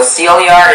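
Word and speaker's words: sillar: Okay, so Celiar is the only pronunciation.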